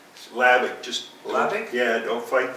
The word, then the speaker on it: Hlavac: Lavick. Lavick. Just Lavick? Yeah, don't fight the H. Because there's an H in there somewhere, right? Yep. It starts with an H, but you don't pronounce it.